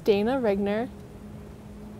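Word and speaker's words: Dana Reigner: well start by telling us your name and spell it for us my name's dana rigner d-a-n-a-r-e-i-g-n-e-r and dana tell us about um what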